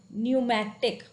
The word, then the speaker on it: pneumatic: Now similarly, if we take up the example of PN, which sounds like only N, P is silent, then we used to say the term like pneumonia, pneumatic.